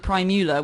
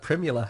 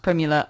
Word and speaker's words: Primula: he was actually really old when he invented prime Nuala which is that the you laughing because I pronounce it old not older inventing prime Nuala